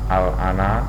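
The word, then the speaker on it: آلآن: Al-ana. A-nya panjang lah, tidak apa? Pengucapan A tidak dua kali tapi sekali tapi panjang.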